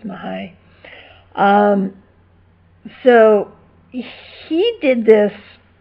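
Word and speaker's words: Mihály: I'm not exactly sure how you pronounce it, but I'm pretty sure the first one is Mihaly, or Mahai. Mahai, actually, I think it's Mahai.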